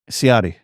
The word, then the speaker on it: Ciotti: Ciotti.